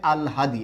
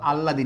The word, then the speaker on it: আল হাদি: উচ্চারণটা হচ্ছে আল হাদি, এটা মাথায় রাখবেন কিন্তু, আল্লাদি না, উচ্চারণটা হচ্ছে আল হাদি।